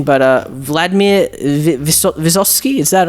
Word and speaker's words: Vysotsky: Now, forgive me for my mispronunciation, but Vladimir Vysotsky, is that right? Yes, Vysotsky.